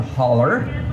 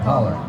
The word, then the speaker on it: holler: We have personally on our own farm, so we live, these were terms that we learned, we live in a holler, okay? And you spell that H-O-L-L-O-W. That's right, holler.